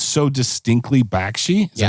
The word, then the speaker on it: Bakshi: Like, it's so distinctly Bakshi.